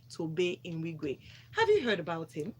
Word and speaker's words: Nwigwe: No, Nwigwe. not Nwigwe. There's no N in the middle.